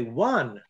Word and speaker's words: wan: Okay, one. And the gesture for that is one. And it sounds like one, but it's pronounced one.